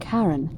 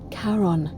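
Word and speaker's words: Charon: it's just as you described it only your pronunciation is a little off the name you heard wasn't Karen it was c h a r o n as in karon the fman of the Dead karon who in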